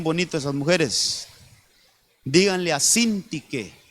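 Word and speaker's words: Síntique: Díganle a Cíntique y a Ebodia, así se llamaban. Busquen ese versículo. A ver, busquenlo ahí. Ctique con acento en la I dice, les decía, les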